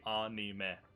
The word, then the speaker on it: anime: That's how you pronounce it. Japanese phonetics is a-i-u-e-o, so it would be anime.